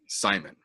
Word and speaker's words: Simon: Ronnie Yaya versus Ricky Simon. Who? I just want to say you did pronounce Simon correctly.